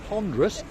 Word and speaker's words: Hondros: How do you say that place? Hondros, is it? Hondros, it means fat man.